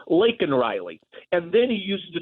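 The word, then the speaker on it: Laken Riley: He calls her Lincoln instead of Lake Riley.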